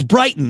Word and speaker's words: Brighton: this uh uh uh bright and it's Brighton that's the proper way to say it right Brighton Sussex right